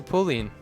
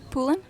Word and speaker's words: Poulin: with the wonderful pauline did i say that right how do you say your last name poulin oh okay it's french actually yeah very french last name amelie pulane is actually